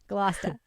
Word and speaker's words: Gloucester: Glousta.